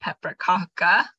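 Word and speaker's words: pepparkaka: just one of many peppercocker recipes I chose it because they have it spelled phonetically paprikaka right um so just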